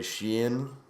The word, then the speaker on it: Sheehan: Uh, Ray Sheen, I got it right this time, right?